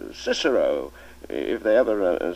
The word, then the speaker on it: Cicero: i admit that i i don't agree with the new pronunciation i never did a lot of nonsense in my opinion making boys say kikero at school when um for the rest of their lives they'll say cicero if they ever say